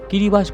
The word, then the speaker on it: Kiribati: না আপনাকে জানিয়ে দিই দেশটির নাম কিরিবাতি হলেও এখানকার মানুষ এটিকে কিরিবাস বলে থাকেন কারণ এখানে লোকাল ল্যাঙ্গুয়েজে টিআই এর উচ্চারণ এস দ্বারা করা হয়ে থাকে আপনাকে জানিয়ে দিই এই